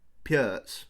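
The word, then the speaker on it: Pirc: into this sort of perk I'm not sure why they played the perk um I think it's actually pronounced PS which is weird uh but I'll keep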